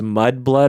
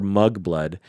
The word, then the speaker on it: Mudblood: I never knew if it was Mudblood or Mugblood because I never read it. Yeah. Oh, and you didn't know how they were pronounced. Yeah. But the way he pronounced it in the audiobooks, I could never really, because he's a Mugblood. Like the way he said anyway. But I read it today. It's was Mudblood.